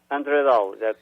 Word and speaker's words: Andre Dal: great great weather really nice well this is andre dahl am i pronouncing your name right andre yeah andre daw that's all right yeah and you have the